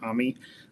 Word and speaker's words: AMI: AMI, it's how we pronounce it.